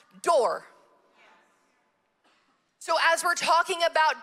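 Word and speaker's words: דור: u r and it's it's pronounced door so as we're talking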